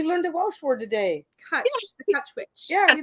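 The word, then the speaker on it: cwtch: Kutch, the Kutch witch.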